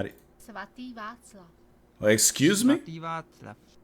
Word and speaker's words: Svatý Václav: Svatý Václav. Oh, excuse me? Svatý Václav. Svatý Václav. Svatý Václav. Svatý Vlasva?